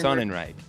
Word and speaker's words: Sonenreich: Is that how you correctly pronounce it? Sonenreich or Sonenreich. Sonenreich.